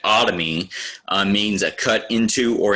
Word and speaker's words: otomy: This is usually pronounced, has an O in front of it, and it is not pronounced Tommy, but otomy means a cut into or an incision into.